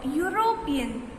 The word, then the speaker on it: European: A is used before u is pronounced as yo, as a cow is a useful animal. मतलब कि a cow is a useful animal. He is a European.